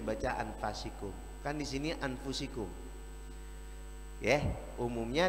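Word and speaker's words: أنفسكم: Dalam qiraat Hafiz diriwayatkan dari Hasim, Imam Hasim, beliau pernah mendengar Rasulullah membaca anfasikum. Tapi ada imam qiraat lain membacanya min anfusikum. Yang benar, dua-duanya benar. Dua-duanya boleh dibaca. Makanya kalau ada orang baca laqad ja'akum rasulun min anfasikum, jangan disalahkan. Ya, kalau dibaca anfasikum benar, dibaca anfusikum benar, karena ada dua qiraat.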